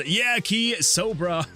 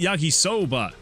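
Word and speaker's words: yakisoba: Uh, the not so lonely says, "Yaki Sobra is not is how I've always pronounced it." Oh. Oh, Yaki. Yaki Soba.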